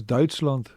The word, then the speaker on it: Duitsland: Almost like they say Deutschland. It's Duitsland.